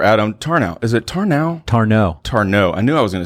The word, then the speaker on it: Tarnow: Tarnow.